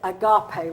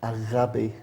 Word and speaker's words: agape: First time I've ever heard, you know, normally it's agape, right? That's how we say it. Say it again, Chris. Agape.